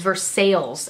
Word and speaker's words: Versailles: There's a town in Indiana, and it's pronounced, the way that it is just pronounced here is Versailles, actually. And it's spelled like Versailles, because obviously that's what it's named after. And so now I'm embarrassed that I just said it the Indiana way.